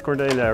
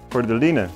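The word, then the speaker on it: Cordyline: It's cordelia, right? Cordelina, that's it. I always mispronounce that name.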